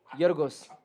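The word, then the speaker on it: Γιώργος: Yorgos. That's better. Yorgos Giacomakis. Is it Yorgos? Yorgos. Or is it Yorgos? Yorgos Giacomakis. Is the second G not silent in No, Greece? it's Yorgos.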